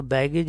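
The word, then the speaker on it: baggage: तो बैगेज इसकी wrong pronunciation है, राइट वन इज बैगेज।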